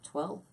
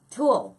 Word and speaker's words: tulle: Twill? Is that what it's called? No, I know I'm not saying that right. What's it called? What's that stuff called? Tulle. Twill. I knew I wasn't saying it right.